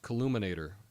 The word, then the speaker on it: calumniator: It's pronounced Calumniator.